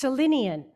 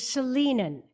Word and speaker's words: Salinan: I had heard the tribal name pronounced Salinian, and I have since learned the proper pronunciation is Salinan, which makes our UU acknowledgement that much more accurate.